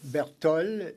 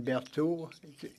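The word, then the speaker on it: Berthold: And so Bertol rather than Berthaud. Bertol is a pronunciation.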